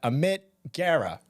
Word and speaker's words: Amit Gera: I got Amit Gera.